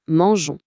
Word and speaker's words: mangeons: Mais si on lit ça, le son devient gon. Comme dans gondole. Pour garder le son doux, je de manger, on est obligé de glisser un petit e juste avant le on. Ça donne nous mangeons. C'est juste pour le son.